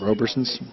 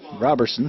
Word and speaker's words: Robertson: Faber did him a favor, hung a breaking ball, and Roberson's, why do I keep calling him that? Robertson smoked it up the middle. I know how to pronounce his name. I called him Roberson twice.